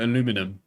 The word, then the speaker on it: aluminium: Aluminum, because that's not how it's spelled. Aluminium?